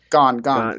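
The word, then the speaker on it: Gane: Man, my heart, the smart money tells me Gain or Gain. How do you say his name? Gone. Gone.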